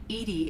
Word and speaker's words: EDI: is a jar why are you named Edy Edie is the phonetic pronunciation of e di that is an acronym